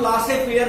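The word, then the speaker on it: laissez-faire: शायद सुना नहीं होगा, laces फेयर policy, laces फेयर policy, LAISEZ, laces फेयर policy, इसको कभी कभी प्रोनाउंसिएट करते हैं हम लासे फेयर पॉलिसी भी कहते हैं, कभी कभी हम प्रोनाउंसिएट करते हैं।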